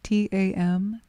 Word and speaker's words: tam: And we do this with the seed syllable of Tara, which is T-A-M, Tam.